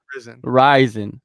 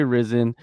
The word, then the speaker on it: RIZIN: like the first show risin risin is the proper way to pronounce it a lot of people say risen and you know let